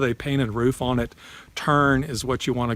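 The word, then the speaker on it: terne: Then another option besides that would be a turn roof. That's spelled T-E-R-N-E, turn roof.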